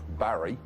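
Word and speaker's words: Barre: town that's next door the capital of vermont barry which pronounced bar judith yes that's right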